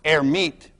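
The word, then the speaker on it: Hermite: for a guy named herit who didn't actually pronounce the h but let's pronounce it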